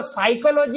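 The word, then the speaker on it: psychology: अब वो साइकोलॉजी है फाइकोलॉजी है पता नहीं पड़ रहा है। हां ये स्पेलिंग ऐसे पी एस वाई से शुरू होती है।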